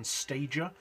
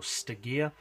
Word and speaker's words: Stagea: it's for the nissan stagea or Stig ear I don't really care how you pronounce it to be honest basically